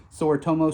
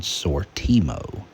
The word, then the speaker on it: Sortimo: make a note that I mispronounced what this system is called it's actually called sortimo uh not sure where